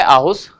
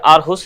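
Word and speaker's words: Aarhus: भी जो शहर है आहुष या आरहूस इसमें आर साइलेंट भी है कई बार बोल भी देते हैं तो उन दोनों के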